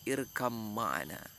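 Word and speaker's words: ارْكَبْ مَعَنَا: Jadi Nabi Nuh itu bacanya itu ya bunayya irkam ma'ana, menggunakan tajwid, bukan yang tampak lagi, irkam ma'ana, tapi dibaca oleh, yang didengar oleh Kan'an, irkab ma'ana, masih yang tampak bahwasanya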